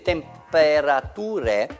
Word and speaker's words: temperature: Ture vuol dire, in inglese si pronuncia ch. Temperatura. Scritto in inglese temperature, quel ture è ch.